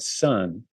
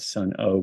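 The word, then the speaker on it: Sunn O))): probably from Los Angeles called Sun that's uh it's spelled s-u-n-n and then it has this weird symbol behind it people sometimes think they're called Sun oh because it looks like a son most of their music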